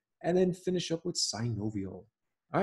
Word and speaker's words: synovial: And then there are six joints, these are the ones that most people know about already, that are classified as synovial, four syllables.